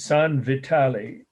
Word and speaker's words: San Vitale: next must know it's san vitale uh it's like the word vital with an e on the end sun is uh of